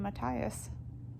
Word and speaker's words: Matthias: my whole thing so i've been calling him matias for the entire book like last book in this book i just think it sounds so much better than matthias you know it sounds weird to me it's